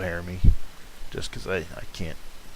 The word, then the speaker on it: Harami: The it's pronounced Hodami. I call it Harami, just because I can't.